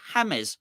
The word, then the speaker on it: James: or you could say hams they said J it looks like James right you say Hames Rodriguez played against Barcelona now people would p pull you up on the James but they wouldn't pull